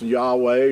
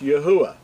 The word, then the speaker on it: Yahuwah: Now, a lot of people think it's Yahweh or Jehovah and all these other variations, but to be accurate, his name is pronounced Yahuwah.